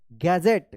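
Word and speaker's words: gadget: अब देखिए यहां पे जी ए डी जी ई टी डी जी एक साथ है तो ज उच्चारण होगा गैजेट क्या पढ़ेंगे इसको गैजेट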